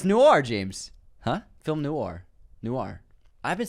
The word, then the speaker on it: noir: Guys, noir is pronounced noir, not noir.